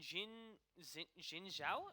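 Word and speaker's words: Xin Zhao: And Jin Zhao, is that how you pronounce it?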